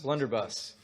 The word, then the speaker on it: blunderbuss: How do you say it? Blunderbuss? Blunderbuss.